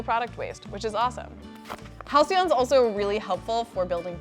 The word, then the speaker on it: Halcyon: Step 1 is understanding how to pronounce Halcyon. It's Halcyon.